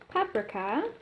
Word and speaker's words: paprika: I'm gonna add some paprika and gives you wondered why I pronounce it paprika it's because I am Hungarian and that's how we say it so I have this